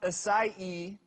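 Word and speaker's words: açaí: So the berry is pronounced acai, even though it's spelled A-C-A-I.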